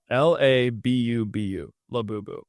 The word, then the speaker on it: Labubu: How do you pronounce it? Uh Lab BU bu the reason I found these this brand which